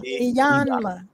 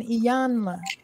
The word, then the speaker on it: Iyanla: Yeah, so she had a talk with somebody pronounced it's Iyanla, right? Iyanla. Don't forget the N, Iyanla.